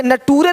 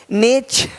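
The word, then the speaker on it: nature: देखो नेचर, यहाँ पे नटूरे नहीं बोलते, नटूरे नहीं, नेचर, है ना।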